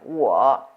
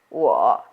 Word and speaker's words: 我: The first one, 我 is I. Notice here it's a dip going down and up, so it's the third tone. So follow me. 我.